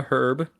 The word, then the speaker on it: herb: don't know so British people say a herb and Americans say an her because British people don't